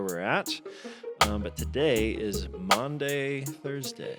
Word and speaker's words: Maundy: But today is Maundy Thursday. Pronounce that again. Maundy, not Monday. Not Monday. Thursday.